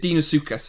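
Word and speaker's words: Deinosuchus: d note yeah so the dino or dino whichever way you want to pronounce it dinosuchus is the way you would say it but a lot of people say dino bloody bloody blah but um the dinosaur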